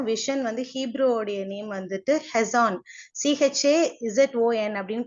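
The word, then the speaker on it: חזון: Vision வந்து ஹீப்ரூவோடைய name வந்துட்டு ஹெசான், CHAZON அப்படின்னு ப்ரொனவுன்ஸ் பண்றாங்க.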